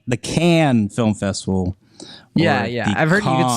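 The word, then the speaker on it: Cannes: it's the C the can film festival I've heard you say you could say can or you can say con but you don't pronounce the S that's the thing um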